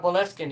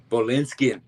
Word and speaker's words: Boleskine: looking into I had to I never heard of the word Bolskin and did am I pronouncing that right? Uh Bolinskin. Yeah. Bolinskin.